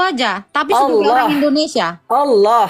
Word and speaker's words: Allah: Allah. Allah. Gimana? Allah. O kan bukan A kan. Allah. Anda enggak bacanya A. O.